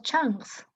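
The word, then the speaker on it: chunk: El almacén donde irán contenidos que hayan sido codificados en unidades llamados changs. Bueno, chung dice acá, ¿no? Pero se pronuncia chang.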